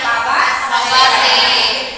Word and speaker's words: Fabaceae: Terus apa sih tadi ada ya yang kata-kata Fabaceae ya, terus harusnya Fabaceae itu kayak Inggris gitu loh.